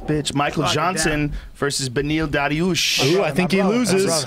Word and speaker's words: Dariush: Does the Darush, what's his name? Dariush. Did he wrestle over 8 years in No, but he's college? really good jiu-jitsu. No, but he's world class on the ground. It's pronounced Dariush.